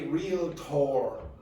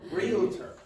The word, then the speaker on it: realtor: You do not say realtor. You say realtor. Okay, so you don't generally say a realtor because one of those sounds, the second one, again, is weak.